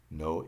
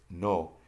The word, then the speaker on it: no: Now notice when I pronounce no, it's different than the English no. And the difference is in the Spanish, when you pronounce an O, you leave your lips open to get the O sound.